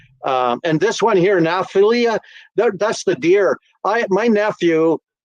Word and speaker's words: Naphtali: That now I am pronouncing that wrong. I know I'm butchering. I was just going to say he's pronouncing that terribly wrong. It's Naphtali.